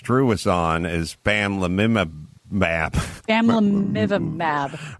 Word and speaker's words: bamlanivimab: Bamlanivimab. Right. Here's how it's said. Sorry. Bamlanivimab.